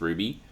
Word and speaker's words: RWBY: a fantasy Universe where um it's RWBY is pronounced Ruby and the it's all about this um these